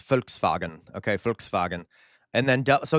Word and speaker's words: Volkswagen: That's why it's Volkswagen, okay? Volkswagen. And then, so this, okay, real fast. In German, like I said, V's are pronounced like F and W's are pronounced like V's.